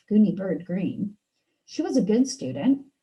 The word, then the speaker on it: Greene: My name is Gooney Bird Greene. That's Green with a silent E at the end.